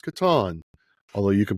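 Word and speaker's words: Catan: of Katon on where we learned that it's pronounced Katon. Although you can pronounce it any way you like. Uh but that is how Klaus Toyber pronounced it. So I promised I would do better. It's Katon.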